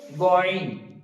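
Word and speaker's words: غين: তো তারপর আছে গয়ন, ঠিক একই ভাবে গয়নটা উচ্চারণ হবে, গয়নটা হালকা কণ্ঠনালীর উপর দিকে, আইনটা উচ্চারণ হচ্ছে কণ্ঠনালীর মাঝ থেকে এবং গয়নটা উচ্চারণ হবে কণ্ঠনালীর উপর থেকে, যেমনটা এখানে আমি দেখেছি।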